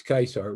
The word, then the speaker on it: Caesar: a kick out of when i say julius kaiser which is actually julius caesar's correct pronunciation but at any rate um so time